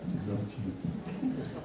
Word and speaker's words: Rilke: Thanks for helping me pronounce that, Rilke.